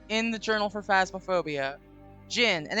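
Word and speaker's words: jinn: to yes so in the journal for phasmaphobia gin and it's spelled j-i-n-n I want to be very clear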